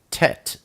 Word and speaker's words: Tet: we have the oat Tet and that is the number 9/10 is pronounced t like today it's the picture of